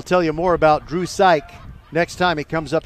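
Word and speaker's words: Psyk: to say it right it's spelled p-s-y-k but it's pronounced psych here's the two-in-one from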